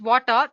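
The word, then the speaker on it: Watir: water w a TI basically it's pronounced as water is an open- Source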